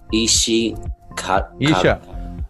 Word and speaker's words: Isha: Isha.